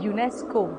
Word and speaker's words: UNESCO: बोलते हो FBI, CBI, लेकिन इनको UNESCO नहीं बोलते हो, आप इसको कहते हो यूनेस्को और इसको कहते हो नाटो।